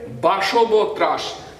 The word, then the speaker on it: বাসব ত্রাস: বাস উচ্চারণটা হবে বাসব ত্রাস।